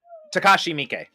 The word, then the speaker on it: Takashi Miike: And I just speaking of Takeshi Miike, is it Miike? I never know how to pronounce his name. Takashi Miike.